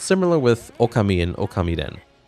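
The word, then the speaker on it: Ōkamiden: similar with alchemy in okami den which is by the way how it's pronounced despite what some commenters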